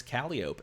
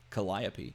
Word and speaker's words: Calliope: possible that I might call this Calliope and not Calliope which is this is Calliope charismatic bard for cost